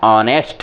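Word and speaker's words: honest: बोलते हैं जबक नेस्ट नहीं है क्या है ऑनेस्ट है क्या है ऑनेस्ट है ऑनेस्ट पढ़ेंगे इसको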